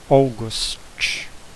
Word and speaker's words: August: August não vai ser pronunciado como agosto, apesar de ser com A também. Vai ser, esse AU vai virar quase um O. August.